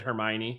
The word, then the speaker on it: Hermione: in the movies they pronounce it Hermione, so I think you said it right.